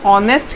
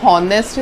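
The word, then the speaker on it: honest: जब हम ऑनेस्ट कहते हैं तो इसे प्रोनाउंस करने का तरीका हॉनेस्ट नहीं है, ह साउंड इसमें बिल्कुल साइलेंट है।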